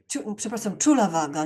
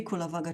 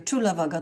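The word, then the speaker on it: Cullavagga: Czulavaga, nie Kulavaga, Czulavaga to trzeba wymawiać.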